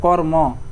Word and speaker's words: কর্ম: আর কর্ম শেষে এখানে ওকার দিলাম কারণ তুমি এমনিতে উচ্চারণ করো কর্ম, তুমি কি বলো শুধু কর্ম এরকম তুমি উচ্চারণ করো, কর্ম শুধু এরকম বলো না, কি বলো, কর্ম শেষে কি নিয়ে আসো, স্বরধ্বনি নিয়ে আসো কিন্তু।